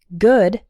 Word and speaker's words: good: involves the ooh sound the word good is not like food there are two different sounds there good has the sound and food has the ooh sound listen to me and